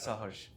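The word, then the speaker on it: Saharsh: Sir, it is pronounced as Sahush.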